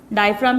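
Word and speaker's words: diaphragm: date way have an डायग्राम की spelling अच्छे से लर्न करेगा स्टूडेंट इसमें जी साइलेंट है और व्हाट इस डी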